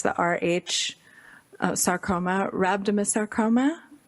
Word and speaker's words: rhabdomyosarcoma: it's the RH sarcoma rhabdomyosarcoma how do you pronounce it right rhabdomyosarcoma that yes no nobody should create